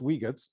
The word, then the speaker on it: Uyghurs: well another group and i never know how to say this but i've been told it's weaker uyghurs in in china so